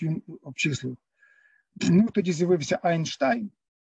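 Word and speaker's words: Einstein: Ну, тоді з'явився Айнштайн, це так Айнштейном називають, тому що треба відкрити підручник з орфоепії німецької і побачити, що сполучення «е» наше і «і» наше завжди читається «ай» німецьке, «ein, zwei, drei»,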